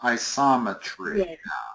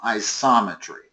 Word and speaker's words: isometry: Isometry. I think the the emphasis goes on the soom. Isometry I believe it's the only way it makes sense to pronounce it.